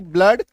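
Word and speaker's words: blood: Double O का उच्चारण जो है वो अ होता है। जैसे बी L double O डी ब्लड एफ L double O डी फ्लड। ये दो ही शब्द है जिसमें इसका उच्चारण क्या होगा? अ होगा। आप कहेंगे सर अ तो दिख नहीं रहा है।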